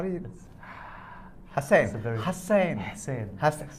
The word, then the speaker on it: Husain: No, see, he says there's a different letter in Arabic. How do you? Hussein. Hussein. Hussein.